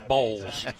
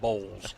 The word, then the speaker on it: Boyles: On the screen, folks can see it's spelled Boyles, but it's pronounced B-O-W-L-S. It's Bowles.